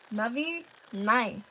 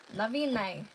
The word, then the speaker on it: Navi Nai: The name is pronounced Navi Nai. Navi Nai. Navi Nai. Navi Nai. So, Navi Nai, like Nanai, which is mother.